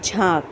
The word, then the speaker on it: झांक: लेकिन हम पढ़ेंगे झांक।